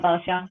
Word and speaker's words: Bao Xiang: Okay, so let's talk about Bao Shang. Is that how you say it? Yeah, Bao Xiang.